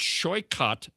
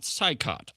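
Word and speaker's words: Saikat Chakrabarti: When we met, Weiner correctly uh corrected my pronunciation of Chakabardi's name as it's it's Shyot, not Scyikott.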